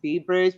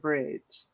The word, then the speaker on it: B.R.I.D.G.E: I know that everybody um pronounces it as Bbridge but it is just straight bridge.